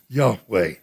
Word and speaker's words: Yahweh: it i am yahweh he uses the form there y-h-w-h which we think is best translate or pronounce yahweh and what does he